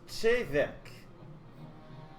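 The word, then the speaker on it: Te Bheag: Pronounced Chevek.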